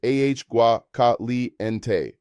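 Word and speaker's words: agua: Hot water is aua caliente pronounced ah gua.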